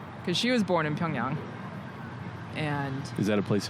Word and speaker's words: Pyongyang: yeah i mean yeah the way that it's written in english the last syllable y-a-n-g yang in korean it's young wondering how many